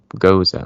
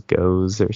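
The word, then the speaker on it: gose: out like like learning oh goza okay what what does that mean I I probably you know mispronounced it at first thought it was go or something oh yeah I probably called it like goo or ghost ghost um so I quickly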